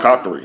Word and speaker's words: Qatari: Qatarian. Yeah, I guess citizen. probably, yeah, What's your yeah. citizenship? Qatari, yeah, it's called Qatari. Do you have dual citizenship? Oh, it's No. Qatari.